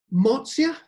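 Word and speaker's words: Mozia: Marzia, I tend to use the Italian word for it, pronunciation Marzia, but you will see other spellings of the word, Marzia, Marzia, and so forth. But the pronunciation tends to remain as Marzia.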